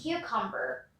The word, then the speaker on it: cucumber: Moving on to our next word, cucumber. Cucumber. Here in cucumber, we pronounce the U as in university, uniform, etc.